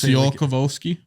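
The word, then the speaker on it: Tsiolkovsky: I think it's something it's just the t is silent yeah so just see all kovolski yeah let's go with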